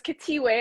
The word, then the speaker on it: Khethiwe: you yeah okay well thank you so it's katie way i know my name is a little different to pronounce okay i love the name i love